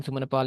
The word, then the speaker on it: Sumanapala: The spelling of Sumanapal, am I S pronouncing it U correctly? Would A be P, yeah, AP for, and then Sumanapal is SUMANAPALA.